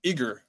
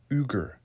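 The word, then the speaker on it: Yggr: and it actually parallels the name name um Iger of Odin here I should have more correctly pronounced the Norse name as uger as in ugra which would bring the viic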